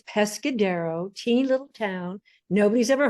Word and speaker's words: Pescadero: Lynne has three grown children, two grandchildren, and is the president of the Pescado Foundation. And I probably mispronounced that, so I'll have her correct me.